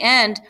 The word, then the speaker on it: y: Also notice that there's a list here, and at the end, right before the last thing that you say, you want to add Y, which is and it's pronounced E.